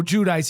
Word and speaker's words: Giudice: You were in prison with Joe Giudice, and you were there when Teresa Giudice was visiting Joe Giudice.